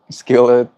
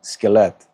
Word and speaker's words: Skillet: That's how you pronounce it, I think. Skillet, you are our pleasure.